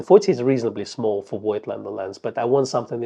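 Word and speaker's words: Voigtländer: The only other brand that I'd like to see some more lenses from is Voigtlander. or Fuchtländer, as we've been told to pronounce it.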